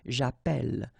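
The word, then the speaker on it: j'appelle: in the previous video if you have you know Double L like that it will affect the pronunciation of the uh so actually it will open the sound and that's the reason why you will get the sound a okay japel japel all right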